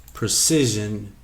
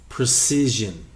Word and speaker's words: precision: Precision uh is a noun and you will hear it used in both ways and it's pronounced differently. Precise. Precision.